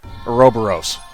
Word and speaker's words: Ouroboros: time and I miss Ouroboros yeah I'm gonna pronounce it correctly Ouroboros not too much damage that's try record nice